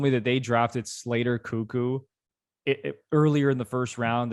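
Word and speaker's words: Koekkoek: it might be slater cuckoo how are you pronouncing that yeah you know what when i hear it out loud i'm like yeah it's cuckoo which is how i read it so yeah laporte cameron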